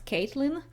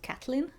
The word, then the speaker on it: Catelyn: I also pronounced Catelyn Stark as Caitlyn - from A Song of Ice and Fire - and at least in the show it's pronounced Cat-lin.